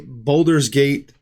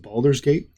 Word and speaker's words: Baldur's Gate: today obviously to play Boulders gate three um I've never played it's pronounced balers gate yeah Bal Boulders gate